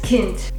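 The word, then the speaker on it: Kind: plume up next is Kint meaning child it's like a kin but with a d at the end this is my kin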